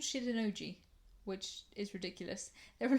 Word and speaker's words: Shitennoji: The first place we went to is a temple called Shitennoji. I'm not kidding, that's how I think you pronounce that word.